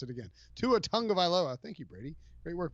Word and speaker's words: Tagovailoa: let's get, and I find it fascinating, the idea that Tua Tagovailoa, Tonga Tung, Tung, Vailoa. Tagovailoa. All right, now I'm good. Now that I got that Tagovailoa, I won't mispronounce it again. Tua Tagovailoa.